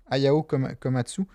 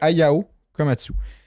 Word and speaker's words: Ayao Komatsu: Ayao Komatsu. Je sais pas. Je l'ai ici. Bon, je l'ai plus, là. Je me souviens plus. Komatsu. C'est Ayao Komatsu.